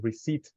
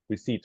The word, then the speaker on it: receipt: the letter Papa PS in Papa you don't pronounce it some words are simply mute in English so it's called receipt receipt so let's let's try it let's see if